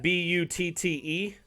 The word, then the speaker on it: Butte: the in the US they spell that b-u-t-t-e I think it's pronounced Butte it's so funny some